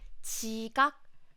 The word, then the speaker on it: 지각: 지각, 바지, not. So when you pronounce 지각, when 지 sound comes at the beginning of the word, then it sounds like CH. It sounds closer to CH.